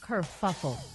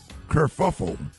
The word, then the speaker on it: kerfuffle: a good paragraph yeah right but you didn't pronounce uh the word right and the word is what Maria kerfuffle kerfuffle Judge Judy I mean judge Judge Judy use